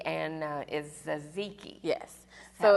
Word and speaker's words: tzatziki: So starts with a T, but you pronounce it with the Z, and is Ziki.